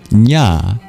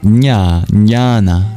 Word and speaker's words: jnana: But that comes from Sanskrit root nya j n a nya nana meaning knowledge knowing wisdom from a tradition of